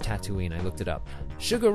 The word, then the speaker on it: Tatooine: Tatooine there's that word again yeah it's actually pronounced Tatooine I looked it up sugar rush Raceway of